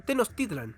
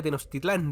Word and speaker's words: Tenochtitlan: América que le decían Tenochtitlan ahora lo pronunció bien porque yo le decía Tenochtitlán debía haber padecido un